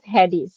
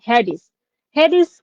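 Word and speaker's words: Hades: ওকে তারপর হয়াট হডি। এখানে কিন্তু হবে না। উচ্চারণটা হেডিস কি ইন গ্রিক মিথোলজি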